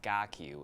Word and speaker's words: KarQ: so maybe a little how did you get car q and maybe we can work on something for myself um car Q is actually my Chinese name uh it is pronounced gaku in in in Chinese my ethnic name but